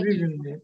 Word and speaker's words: Гривенной: И я хочу предоставить слово Людмиле Александровне, боюсь ошибиться. Гривенной, ударение на Гривенной.